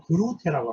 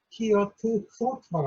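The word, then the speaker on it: Geert Groote: 새로운 경건운동을 이제 출발했던 사람은 우리가 일반적으로 이제 영어식 표현으로 그루테라고 합니다. 그루테. 그런데 이분이 이제 네덜란드 사람이잖아요. 그래서 네덜란드식 발음을 그대로 이제 제가 썼는데 히어트 크로트라고 합니다.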